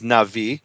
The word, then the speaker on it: Navi: He was a native Hebrew speaker, and he famously rhymes the word prophet, which every Jew in the world pronounces Navi, because that's a soft bet, with Levi.